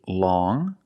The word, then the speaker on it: long: First, we see long with the sound which is a nasal sound. Long.